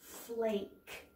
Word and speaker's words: flake: snow full a snow flake that's silent e makes the a say its name it's a long a snow flake song there's